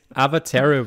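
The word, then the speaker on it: Awatere: but i see ice avatero valley actually shows up like really far zoomed out avatar oh look at that yeah oh you pronounce the w as a v i i forgot that's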